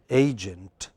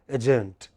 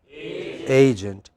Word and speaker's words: agent: So, how do we pronounce it? Agent. But many of us by mistake pronounce it as agent. That's not correct. What is it? Agent.